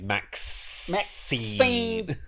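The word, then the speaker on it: MaXXXine: You have to pronounce it properly. It's Maxine.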